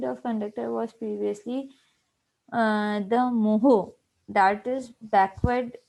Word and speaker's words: mho: The unit of conductor was previously the moho, that is backward spelled of ohm, ठीक है।